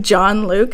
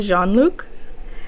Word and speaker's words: Jean-Luc: It's pronounced John Luke. It's not pronounced Jean-Luc. Like the Star Trek captain. It's not Jean-Luc. It's John Luke.